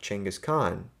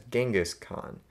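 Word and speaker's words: Genghis Khan: dynamism of something like chenas Khan incorrectly pronounced as genas Khan and which the title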